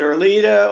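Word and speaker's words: Erleada: So I stopped that, and they put me on, is it Erlita or Erliata?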